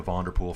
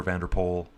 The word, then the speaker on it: Van der Poel: Just showing Van der Poel go at the back now. And I'm really going to rock the Van der Poel from now on. No longer Van der Poel. I was corrected several times.